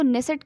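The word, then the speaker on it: Knesset: इसकी स्पेलिंग के से स्टार्ट होती है, के साइलेंट होता है उसमें।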